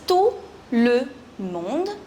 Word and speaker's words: tout le monde: Now actually it is tout le monde, but together it's pronounced as tout le monde.